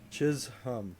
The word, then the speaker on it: Chisholm: Chisholm.